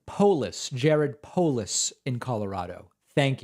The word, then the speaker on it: Polis: David loved the show letting you know it's pronounced polis Jared Polis in Colorado thank you I appreciate